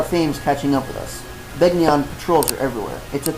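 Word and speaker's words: Begnion: By the way, the voice acting called it Benyan, but I still say there's a G. it's supposed to be like the word sign where you don't pronounce the G.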